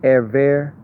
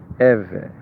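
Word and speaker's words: עברי: Some people they might say Erver, the Erver, because they don't know how to pronounce it, but once you practice it, it becomes easy. Êvê.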